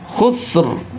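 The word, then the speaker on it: خسر: Ah innal insana lafi khusr. Ya, sebetulnya tulisannya di khususrin di khusus bacanya khususr. Nah, bunyi roinya itu juga tebal bukan khusus.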